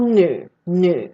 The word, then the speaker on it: 女: Right, and why it got, okay, so as I said, this one is called nu, okay? It has its own pronunciation.